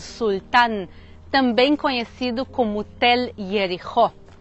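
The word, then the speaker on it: יריחו: Jericó em hebraico se pronuncia Yericho e ela pode significar ou a cidade perfumada ou a cidade da lua, já que em hebraico Yarer significa lua.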